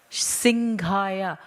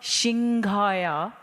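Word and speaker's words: Simhaya: He goes, Dadi, it's Singhaya, not Shinghaya.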